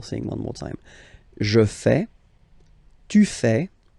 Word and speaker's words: fais: Je fais. Remember, final S not pronounced. Je fais. Tu fais.